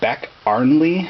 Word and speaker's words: Beck-Arnley: ones these are the it's actually a back Arlie I believe is how it's pronounced I had incorrectly said